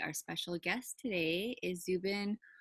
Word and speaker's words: Zuben: special guest today is Zubin am I saying it right Zubin yes hmm all right well thank